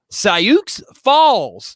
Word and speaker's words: Sioux Falls: sioux falls south dakota it's pronounced cyuk's falls so they will be